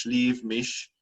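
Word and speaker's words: Slieve Mish: mish uh county antrim there's exactly the same name in county kerry but pronounced sleeve mish referring to a the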